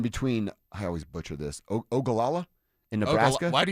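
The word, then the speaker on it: Ogallala: Ogalala in Nebraska. Why do you butcher Okala? Is that how it's said? Yeah, you just said it. Okala.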